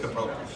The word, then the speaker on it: Coppola: I'm sticking with Coppola.